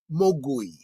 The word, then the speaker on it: Mogui: In Cantonese, Maogwai means devil, demon, or gremlin. The Mandarin pronunciation is Mogui.